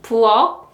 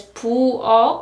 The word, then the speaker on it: 부엌: 부엌, 부엌, 부엌. Again, according to the ending sound rule, the pronunciation is 부엌, right? Not 부엌, but 부엌, 부엌.